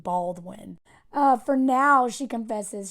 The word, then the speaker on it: Baldwin: her new last name Baldwin uh for now she confesses she has enough with them with learning to spell her last name I had to repeat it for my family three times bald win so when she's trying